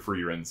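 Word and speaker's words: Frieren: it we're we said it wrong it's frein frein is the correct pronunciation it's are you sure how sure you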